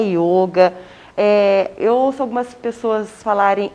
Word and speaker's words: yoga: E a prática do yoga, a gente fala o yoga. Tanto é que, às vezes, a gente até tem o acento circunflexo, né, para mostrar que é uma pronúncia fechada. É o yoga.